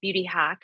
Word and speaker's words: Beauty HAC: And that's why we're called Beauty Hack, not only because we've attached the rollers to the serums, but it's different. It's spelled H.A.C. without the K, so it's Beauty Hack, and that stands for holistic and clinical.